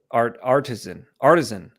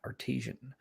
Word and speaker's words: artisan: So artisan. That's how you say it. Artisan. You look at it like that, artesian.